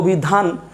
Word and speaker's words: অভিধান: এখন অভিধান, উচ্চারণটা কি অভিধানও নাকি অভিধান? ডেফিনেটলি উচ্চারণটা অভিধান, তাই এই নয়ের নিচে হসন্ত একটা হবে, হয়ে গেল অভিধান।